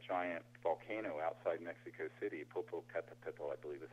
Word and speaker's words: Popocatépetl: going into that giant volcano outside Mexico City, Popocatépetl, I believe is how they say it.